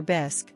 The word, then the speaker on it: bisque: mid-bite of her lobster bisque which she pronounced bisy with a force accent suddenly fixed me with